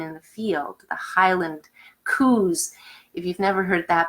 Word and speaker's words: coos: the field, the Highland coos. If you've never heard that before, that's how they say in Scottish. They call them Highland coos, and it's spelled COOS, not that they're saying cows differently.